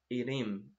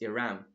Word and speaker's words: Iram: I'm saying it because I have a student and I was calling her Irim. Irim. Then she told me, no, it's Iram.